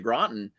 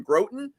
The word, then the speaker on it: Groton: And frankly, when I first started in 2014, moving to Groton here, and it's Groton, not Groton, for anyone who's confused about the pronunciation.